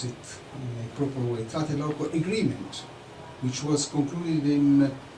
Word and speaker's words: Tlatelolco: The Tlatelolco, I think to pronounce it in a proper way, Tlatelolco Agreement, which was concluded in Latin America for that.